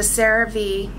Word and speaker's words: CeraVe: skin was so sensitive, is the CeraVe, and that's how the doctor pronounces it.